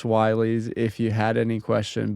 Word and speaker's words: WY: No, it's not Willys. It is pronounced Wighs if you had any question.